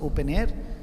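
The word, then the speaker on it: openEHR: model the open air open EHR that's how you pronounce it open air and you have got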